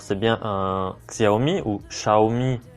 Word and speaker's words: Xiaomi: a dedans alors c'est bien un Xiaomi ou Xiaomi prononcer le prononciation chinoise redmi note 3 euh et